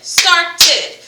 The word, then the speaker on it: started: Good, started. So when you hear the whole ed sound, it is another vowel sound. So you're creating another syllable. So start, ed, ed, started.